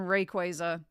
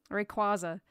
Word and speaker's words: Rayquaza: Isn't, like, the official pronunciation Rayquaza? but I feel really like saying that. I feel really like it just looks like Rayquaza to me. Rayquaza. That's what I always said. But yeah, it's Rayquaza in it.